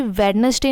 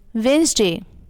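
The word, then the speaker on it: Wednesday: इस मास्क महक को मैं इसी वेडनेसडे नहीं बोलते इट्स वेनसडे विद ए यानी कि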